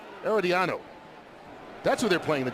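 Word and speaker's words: Herediano: Costa Rica's premier football cleardano in the Champions League group stage. I mispronounced that. I knew I would. Eeriano, that's who they're playing the Champions League group stage.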